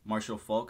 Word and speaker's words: Marshall Faulk: like a fun matchup already you know uh Marshall Faulk I believe that's how you pronounce his name right yeah that's correct the